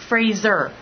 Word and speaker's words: Fraser: or who might meet him at some point Fraser yeah yeah yes and the correct pronunciation of Cathy's name is cath vit so